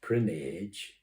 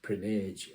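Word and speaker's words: Prinknash: don't know where it's still there there it's pronounced prage but it's PR Nash that's how it's spelled yeah but they pronounce it prage Abby where they used to make pots and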